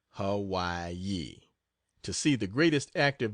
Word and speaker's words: Hawaii: again and then to the island of Hawaii pronounced Hawaii to see the greatest active volcano in the